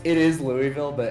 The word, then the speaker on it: Louisville: uh it's it is Louisville but everybody from around here says it like Louisville because we all talk like we got rocks in our mouth oh all right so